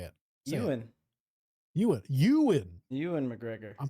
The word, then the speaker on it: Ewan: You're putting too much H into it. Ewan. Yeah. How you say it? Euan.